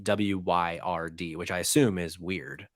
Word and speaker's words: Wyrd: Hellboy: World of Weird, I think is how you would pronounce WYRD.